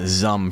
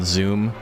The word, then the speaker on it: Zoom: Why does Jack call Zooms Zum for some reason? And it's like all of the media in the Monster Hunter canon is like yelling at you that it's Zoom.